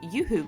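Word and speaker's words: UHU: I attached Bradley to the base using some oooo glue which I've been told is actually pronounced yooo glue but I don't like that so I'm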